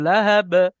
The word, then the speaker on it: لهب: শেষে এটা ছোট হা আছে, ছোট হা উচ্চারণ, লাহাব। লাহাব বলে বড় হা سيص- উচ্চারণ হয়ে যাবে, ছোট হা উচ্চারণ করেন, سيصلى লাহাব।